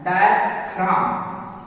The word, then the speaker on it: diaphragm: For example है जैसे DIAPHRAGM, तो इसका सही प्रोनाउंसिएशन है डायफ्राम, जी साइलेंट है।